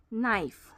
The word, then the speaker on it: knife: Knife. K N I F E. The K is silent.